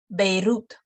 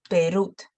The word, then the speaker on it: Beirut: And they go also, the strong letter can go before the weak letter. For example, El Cairo. El Cairo. Two letters, one syllable. El Cairo. Heroico. Heroico. Beirut. So it's pronounced quicker, and it's not the full length.